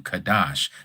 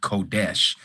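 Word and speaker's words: קדש: The ethmology of the word goes back to kadash, not kodesh, as they use these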